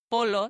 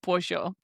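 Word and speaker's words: pollo: No more saying bolo when you are ordering your tacos polo. No, it's tacos pojo.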